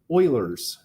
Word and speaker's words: Euler: Yeah, here's Euler's formula. Euler's formula, and yes, that is how you pronounce this, is Euler. Because all of us being Americans, we'd say something like Euler.